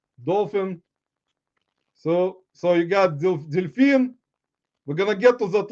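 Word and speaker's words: дельфин: but see that's a pronunciation is like similar a little bit different in English as dolphin in Russian as Delfin so it's like similar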